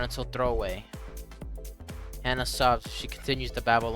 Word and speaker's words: Hana: It's Hana? I've been saying it wrong the whole time? Hana.